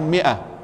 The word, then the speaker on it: مئة: في قوله في الآية 147 مئة رسمت ميم ألف همزة، لماذا مرسوم الألف مع أنها لا تنطق؟